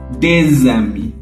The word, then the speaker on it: des amis: Quand l'article D est devant un mot qui commence par une voyelle, il faut prononcer un sonore entre les deux mots. Le son, c'est z. Par exemple, un ami devient des amis.